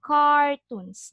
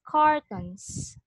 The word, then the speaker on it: cartons: So there is a difference between the pronunciation of this one and this one. This one is cartoons. This is cartoons. This is cartons.